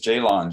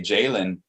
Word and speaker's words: Jaylon: They mispronounce that O in there like it's a Y and say Jalen, or like it's an E.